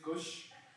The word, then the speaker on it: Kush: ] wrong script again my name is Kush like the weed but my full name